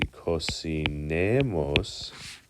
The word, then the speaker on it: cocinemos: For that us, it would be cocinemos. Cocinemos. Ooh, the stress is actually over the ne.